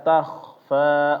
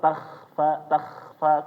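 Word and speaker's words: تخفى: kha sukun, kha mati, jangan bacanya cuma dikasih dengkuran doang, takhfa keliru ya. Tetapi dia ditebalkan juga Bapak, takhfa. Ta-nya jangan terpengaruh dengan kha, ta-nya biasa, takhfa ditebalkan ya Bapak.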